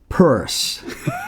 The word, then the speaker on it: Peirce: Well, thank you, Reverend Hank Peirce. I got it right there. Exactly right. It rhymes with hearse, curse, and worse.